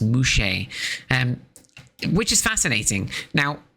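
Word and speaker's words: muxe: the case of mus uh spell MX s but I think it's pronounced mushe um which is fascinating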